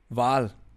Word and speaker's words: Wal: yes how do you say whale in german val sardine or minnow would be sardinia yeah okay